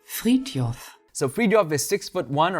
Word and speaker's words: Frithjof: Next up is Frithjof. I think that's the right way to pronounce it. I checked on Google. Frithjof.